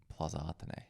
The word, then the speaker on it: Plaza Athénée: We normally stay at the Plaza Athénée. Mm-hmm. Is that how you pronounce it?